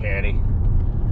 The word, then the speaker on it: Ducati: That's how you pronounce it. Ducati.